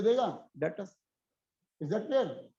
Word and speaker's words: debtor: डेटर्स, डेटर्स DEBTOR, डेटर, ऐसा लगा दिया डेटर्स। डेटर्स नहीं बोलते सर, बी साइलेंट है यहाँ पे।